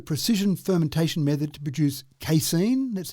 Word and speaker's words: casein: It uses a precision fermentation method to produce casein. That's how I pronounce it.